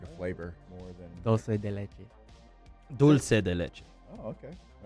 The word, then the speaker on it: dulce de leche: Dulce de leche. Dulce de leche. Oh, okay. All right, boys. There's an L. Dulce. All right. I always thought it was Italian. No. That's dolce. Yeah. They pronounce dolce.